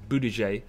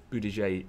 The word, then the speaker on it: Buttigieg: the results come out I believe his name is is pronounced boo DJ Leeds in Iowa caucuses